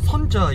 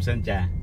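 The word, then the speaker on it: Sơn Trà: 대뱀 선자. 선자. 오케이. 아, 그럼 이게 저까지 되구나. 자, 여기가 선자 야시장이거든요. 영어로는 솜트라라고 되어 있는데, 아, 저걸 선자라고 발음하구나.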